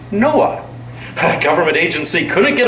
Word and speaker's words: NOAA: Oceanic and Atmospheric Administration the acronym is pronounced Noah a government agency couldn't